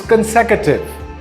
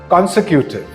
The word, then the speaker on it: consecutive: word is pronounced development this word is consecutive not consecutive this word is aluminum